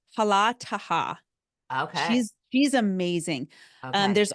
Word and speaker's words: Hala Taha: It's Hala Taha.